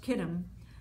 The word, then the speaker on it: Chittim: For the ships of Chittim, pronounced Kittim, shall come against him.